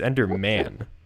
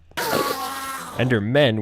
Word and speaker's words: Enderman: count also it's uh it's pronounced it's under man by the way enter men would mean there's multiple body me you won't